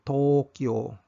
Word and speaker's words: Tokyo: s kayag Vow ang siudad sa Tokyo ang pronunciation an kay Tokyo so nagtapad ang to ug ang u spo